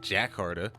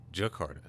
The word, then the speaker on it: Jakarta: towards toronto and jakarta mr. alok told me how to pronounce that a little better i was saying that Jack harder I believe but uh Jakarta Jakarta I hope I'm saying that right but either way I